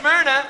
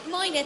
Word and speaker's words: Myrna: Well, then here's Myrna, or Moina. Moina, thank you for the correct pronunciation.